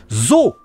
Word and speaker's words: Zou: C'est écrit Zou, donc tu prononces Zou, mais c'est Zo. C'est pas Zou, c'est Zo. C'est un éléphant en japonais, Zo. C'est ça. Mais ça s'écrit comme ça en fait. Hein, le U après un O, ça prolonge le O en fait.